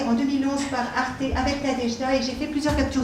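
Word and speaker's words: Nadezhda: Le nom de Nadejda elle-même s'écrit avec un Z, mais ça se prononce J, comme Nadej. Nadejda, comme notre prénom Nadej.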